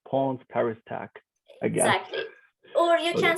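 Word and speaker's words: Ponts ParisTech: yeah so if i if you want to speak in english probably it's pawns paris tech exactly or you can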